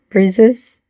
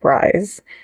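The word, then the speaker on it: BRIIZE: of the mouth Breeze breezes reactions um because you guys said it's pronounced like breeze um which is weird because it's spelled like rise so that' be rise but Breeze like their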